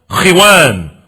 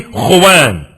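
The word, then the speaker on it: خوان: That mat that you put on the floor is called khiwan or khuwan. It's called khiwan or khuwan. More properly, khuwan.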